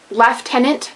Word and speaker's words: lieutenant: actually is Kernel um left tenant not liant or Lieutenant despite the fact that